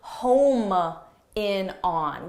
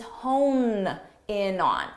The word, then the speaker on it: hone in on: native speakers not students many native speakers mistakenly say home in on we need to home in on and that's because in pronunciation they're very similar honin Homan and hone what's that it's not really used very much but everybody knows the word home but this isn't correct the expression is not home in on the expression is hone in on so make sure you